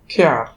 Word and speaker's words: care: এখানে উচ্চারণের নিয়মটা হচ্ছে, যদি কোনো শব্দে ভাওয়েল এই এর পরে আর ই একসাথে থাকে, তখন আমরা সেই ভাওয়েল এই এর উচ্চারণ করব এআর মতো, এআর। যেমন CARE, এখানে এই আর ই একসাথে আছে, এবং তাই আমরা এখানে এই এর উচ্চারণ কি করব? এআর মতো করব। তাহলে এখানে উচ্চারণ হচ্ছে খেয়ার।